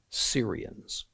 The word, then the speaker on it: Syrians: the time when the syrians again not esserians syrians when the syrians allied with ephraim israel to attack judah again don't confuse syria and assyria i'm not mispronouncing it it's two different places so as hard as